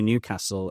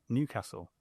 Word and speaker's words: Newcastle: just wrong no this the stress is on the first Newcastle it's not Newcastle